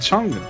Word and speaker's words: Chang: Vous prononcez mal, c'est mademoiselle Tang. Madame Chang.